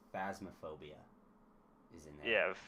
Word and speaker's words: Phasmophobia: huh uh you missed I think you mispronounced it it's phasmophobia isn't that yeah f